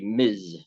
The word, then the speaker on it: Ms: address a particular woman no miss or misses so sorry I pronounced it wrong it should be Miz Miz brown but it's it's basically